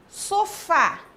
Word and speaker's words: sofá: Qual que é a sílaba tônica da palavra sofá? Sílaba forte. Sofá. Isso é o fá. Então, o fá é a sílaba tônica da palavra sofá. Termina em a, eu vou acentuar.